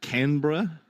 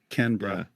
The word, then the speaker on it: Canberra: It's it's Canberra. Oh, Canberra. Almost like with two syllables. Canberra.